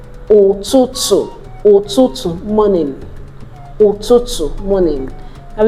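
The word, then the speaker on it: ụtụtụ: That's pronounced, there's no English equivalent, so it's pronounced as O, O, O, O. So we have it in Igbo words like Otutu, Otutu, morning, Otutu, morning.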